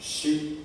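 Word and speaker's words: 四: word all about shi the number four is pronounced shi in japanese japanese is a language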